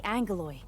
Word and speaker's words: Aggeloi: I don't like they're pronouncing an N when there's not an N in the spelling.